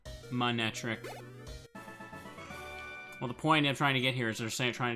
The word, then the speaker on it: Manectric: the later parts saying why is he keep saying my neck it's pronounced manectric and I'm like hmm